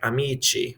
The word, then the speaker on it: amici: of times you'll hear the cha sound like amici for friends and amici is friends in italian too so some of the